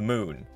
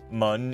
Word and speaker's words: Mun: After orbiting Kurban, my next target is the moon, or Mun if you like pronouncing things wrong.